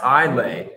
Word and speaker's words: Islay: england what's going on we're from england pronounced islay well thank you i guess